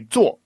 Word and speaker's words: 做: So no huge deal, but it's certainly like when you say 做, you want to make sure it's fourth tone.